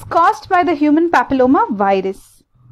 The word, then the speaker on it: papilloma: caused by the human papilloma virus so this word you should know there is there are going to be a pillow mass there will be happy low mass okay so it is